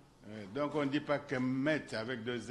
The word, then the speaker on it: Kemet: Donc, on ne dit pas Kemet avec deux M, on dit Kemet avec un seul M.